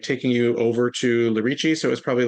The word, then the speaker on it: Lerici: Lerici, yep.